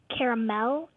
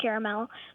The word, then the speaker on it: caramel: mom's from Texas okay so Dad pronounces it with three syllables and she pronounces it with two yes and you take